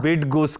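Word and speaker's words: Bydgoszcz: तक बोलनी नहीं आई बिड गुस करके ऐसा कुछ क्योंकि इस इसकी स्पेलिंग है बी वाई डी जी ओ एस जड सी जड हां बिड बिड गोस करके है बिड गोस जगह रहते रे ग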